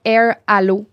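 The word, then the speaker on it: Airalo: on aime bien l'application Air Allo. Donc, Air Allo, tout ça. Ça s'écrit comme ça se prononce.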